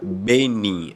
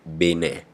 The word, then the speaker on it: Benin: né É se pronuncia Benin se pronuncia benim em português né mas em francês é Bené né que é o